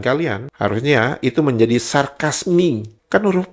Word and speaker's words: sarkasme: Nah, huruf E di belakang eo kalian harus mengucapkannya I. Sarkasmi bukan sarkasme. Kalau kalian mengucapkan sarkasme berarti kalian meniru cara pengucapan Indonesia.